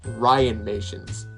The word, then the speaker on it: Ryanmations: ryan axtell from what i said before it's pronounced ryan nations sure it looks complicated but it's very simple